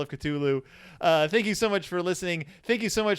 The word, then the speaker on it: Cthulhu: yeah Cthulhu katulu love Lovecraft himself said when someone out he he answered the question how do you pronounce this name several times in his letters and gave like detailed descriptions and the answer is basically you can't this is a name